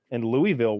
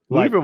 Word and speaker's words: Louisville: Meanwhile, I stayed in Louisville one night with I stayed there too with some bad motherfuckers from Canada, and they were scared. That's how rough Louisville is. Louisville was these guys, really disappointing.